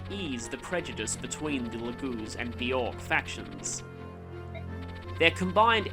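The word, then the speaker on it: Laguz: southwest of Crimea Galia is home to the lagoons a race quite unlike Ikon his fellow Bjork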